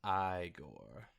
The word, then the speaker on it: Igor: god sounds like uh igor or something it's pronounced i gore not when i watch